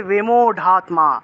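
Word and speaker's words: বিমূঢ়াত্মা: এভাবে আর উচ্চারণ হবে র থাকলে সংস্কৃত রটাকে ঢ এর মত উচ্চারণ করা হয় সংস্কৃত ভাষায় এই রটাকে ঢিবে উচ্চারণ করা হয় তাহলে বিমত্মা আছে উচ্চারণ হবে বিমোঢাত্মা অহংকার বিমোঢাত্মা কার্তামিতি মানাতে কার্তামিতিমানতে এভাবে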